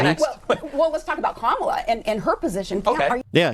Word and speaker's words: Kamala: Are you saying Kamala or are you saying Kamala? I say Kamala because I don't see any point in deliberately mispronouncing her name.